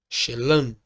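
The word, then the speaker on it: שְׁלָם: no aramaico no qual a palavra paz é pronunciada como shelan vejamos outros exemplos Então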